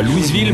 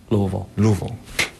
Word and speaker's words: Louisville: Par exemple, Louisville en américain ne se prononce pas Louisville mais... Louisville.